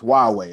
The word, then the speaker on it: Huawei: right here this is huawei it doesn't look like that but that's how you say it okay 5g rethink possibilities